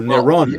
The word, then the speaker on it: Nero: But the pronunciation is the Latin pronunciation by dropping dropping the final noon off of his name. Okay, so he's still Nero Caesar.